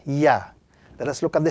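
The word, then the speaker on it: ي: underneath this particular letter the letter yeah the English equivalent is the letter Y in the English language look at the pronunciation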